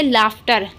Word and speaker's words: laughter: लाफ्टर में आप लोग सोचेंगे कि F लिखते होंगे, बट F नहीं लिखते हैं। स्पेलिंग सुन लीजिए ध्यान से। LAUGHTER। LAUGHTER। लाफ्टर। लाफ्टर आप चाहे तो सर्च करके देख सकते हैं इसकी स्पेलिंग। ठीक है, तो यहाँ पर भी GH को फा पढ़ा जाता है।